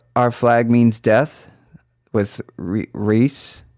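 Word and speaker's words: Rhys: flag means death with reese i always get his name wrong rice reese darby is so criminally underrated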